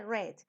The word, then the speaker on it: read: super irregular porque miren se escribe read en presente read en pasado pero se pronuncia red read red entonces con